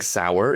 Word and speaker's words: Sauer: Well, you see, let me let me correct that. Sig Sour is a German company and it's spelled the exact same way. S A U E R.